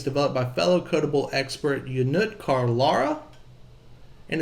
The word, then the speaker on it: Ionut Carlara: It's Ionut Carlara, but it's harder for non-Romanian people to say it.